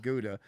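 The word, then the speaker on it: Gouda: decent not great G which I believe is the proper pronunciation guda um but GA G sounds like something when your foot's swollen actually GAA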